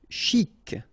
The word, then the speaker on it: chic: Chic. Okay, you pronounce the final C. And then CH together. Sh.